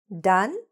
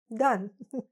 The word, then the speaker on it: done: "Done" sounds like "dun".